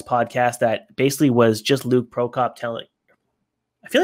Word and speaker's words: Luke Prokop: I feel like I'm missing a syllable.